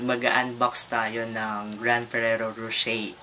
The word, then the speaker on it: Rocher: So for today's video is mag-unbox tayo ng Giant Ferrero Rocher. So yung pronunciation daw nito is Rocher. So hindi Rocher.